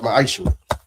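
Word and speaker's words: מעשר: Means 10th in Hebrew and it's pronounced ma'aishu.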